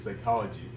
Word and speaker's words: psychology: talk about today is psychology um and so you say py psychology not not psychology psychology ol so that's a thing to notice is the pronunciation sounds like Sai uh the scci and it's